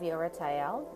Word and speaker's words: Ieratel: card is over here and it has the pronunciation of yo right Al and the Hebrew name and you're at Al